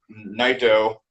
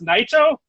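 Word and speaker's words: Naito: because they're the ones that started LIJ with Nato that he took. Nerd alert. There we go. Wait, it's pronounced Nito.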